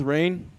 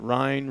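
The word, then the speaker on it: Rehn: Yeah, I kind of get the same thing with Rain, because it's spelled R-E-H-N. But I get Rhine, Reen, Ren. I get all kinds of things besides Rain.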